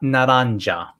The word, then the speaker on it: naranja: which is it's not naranja the j is pronounced as an h sound j is pronounced as